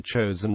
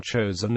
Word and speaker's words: Chosin: of the Korean Peninsula the name chosen is the Japanese pronunciation of the Korean place name Chang Jin and the name stuck